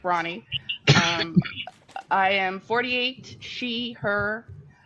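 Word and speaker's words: Rani: So my name is Ronnie, R-A-N-I, pronounced like Ronnie.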